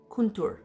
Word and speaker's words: kuntur: The condor is the ancient bird of the Andes, and they pronounce it Kuntur, which is what this is.